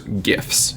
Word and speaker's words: GIF: I say biopic and I call small moving pictures gifs it's a hard G and I I'm going